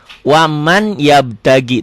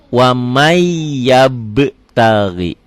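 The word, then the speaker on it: وَمَنْ يَبْتَغِ: Di idgham lain. Waman yabtagi. Tulisannya waman. Waman yabtagi. Waman. Ditulisnya waman. Dibacanya jadi wamai.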